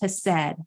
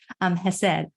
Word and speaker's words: Hesed: The second thing is Hesed or Hesed. I think I said it wrong. Hesed.